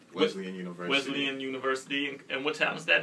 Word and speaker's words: Wesleyan: All right, so I know you also have a radio show you do at, well, I keep pronouncing the school wrong. Wesleyan University.